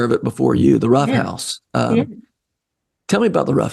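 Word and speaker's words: Ruff House: The Rough House. Tell me about the Rough House. Yeah. So the Rough House, it's spelled RUFF, although there are many times I'd like to spell it ROUGH.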